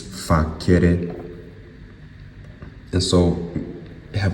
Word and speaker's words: facere: If you pronounce it with a hard C, it's facere.